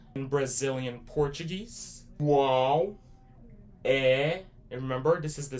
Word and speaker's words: é: Remember that there's an accent on top of that E which is the more open and more stronger sound.